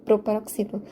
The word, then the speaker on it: proparoxítona: O mesmo acontece com a própria palavra proparoxítona. Proparoxítona. De trás para frente, nós teríamos última sílaba na, penúltima sílaba to e antepenúltima sílaba xi. Proparoxítona. E o xi é aquilo que eu estaria por acentuar. Portanto, a antepenúltima sílaba, como sendo a tônica, é uma proparoxítona.